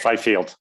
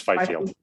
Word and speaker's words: Fifield: Is that pronunciation correct? I see some nodding heads. Okay. Yes, Fifield. It's Fifield.